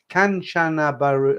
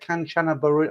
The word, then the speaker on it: Kanchanaburi: I can't pronounce it. Kanchanaburi.